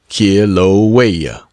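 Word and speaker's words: Kīlauea: the world, that of Kilawea, pronounced Kiloa, and from thence back to San Francisco, and then doubtless to the states.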